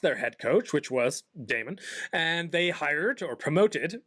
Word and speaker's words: Daemon: They acquired Note, and they also signed Damon or Demon. I never know how if in computer terms. In computer terms, it's Demon. It's spelt Damon. The Daemon.